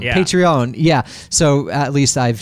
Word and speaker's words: Patreon: How did you pronounce it? Patreon. Yeah. Patreon.